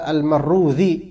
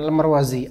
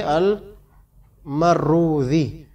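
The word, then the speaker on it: المروذي: dikatakan di sini waqala almarrudzi bukan almarwazi almarwazi ini beda kalau antum menemukan tulisan seperti ini terus ada juga ini beda bacanya Yang pertama bacanya gimana Al almarwazi yang ini Al maruzi murid Imam Ahmad beda enggak sama ya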